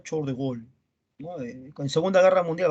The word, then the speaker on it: Charles de Gaulle: Se escribe Charles de Gaulle, se pronuncia Charles de Gaulle, ¿no?